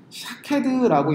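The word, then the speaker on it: שָׁקֵד: 자, 오늘 본문에서 아몬드라고 해석된 히브리어를 명사로 읽으면 샤케드라고 읽는데요, 이때는 말 그대로 아몬드입니다. 그런데 이 같은 단어를 동사로 해석해서 읽으면 쇼케드라고 읽습니다.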